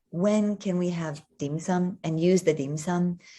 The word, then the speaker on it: 點心: And I know in English they call it dim sum, but if you wanted to pronounce it properly, it's your mid-rising dim sum, dim sum.